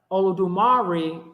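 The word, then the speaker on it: Olodumare: false flag that came listen to how I pronounce the word all of dumari all I do Marie was false light Olo dumari is the true name olodumari is a false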